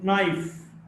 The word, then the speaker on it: knife: K in the sequence or the cluster KN is not pronounced. No, KN or no, or knife, or knowledge. In these cases, K is not pronounced.